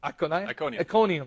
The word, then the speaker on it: Iconium: And they shook off the dust from their feet against them and went to Iconium. Is that how you pronounce it? Iconium, yeah.